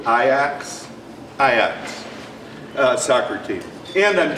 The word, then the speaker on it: Ajax: I would say and you all would pronounce it Ajax um soccer team I'm told that he pronounces it ax ax uh soccer team and